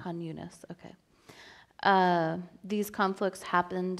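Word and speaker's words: Khan Yunis: let I asked Joe to help me with pronunciations but these are new there it's Raa Rafa hunas that's right hunas okay uh these conflicts happened in 1956 during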